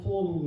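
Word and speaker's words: טוב: 이 도읍이라는 말은 그 이스라엘 언어로 발음하면 토브 그럽니다.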